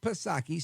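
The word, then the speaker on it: Psaki: put a circle back pasaki silent p on her Show on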